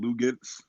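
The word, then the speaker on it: Luguentz: Lugets.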